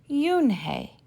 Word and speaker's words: Unhei: no no unhei corrected it's spelled u n h e i it's pronounced yoon hey oh it's you hey the boy said like